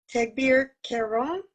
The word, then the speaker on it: Teghbir Kairon: So the next person is Teghbir Kairon, and I hope I've pronounced that somewhat correctly, from AvranceCorp Development. This is an associate of Samuel's at the developer's office. Teghbir, are you there? Yeah, the pronunciation was perfect.